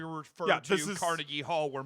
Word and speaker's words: Carnegie: Carnegie? It's pronounced Carnegie, but yes.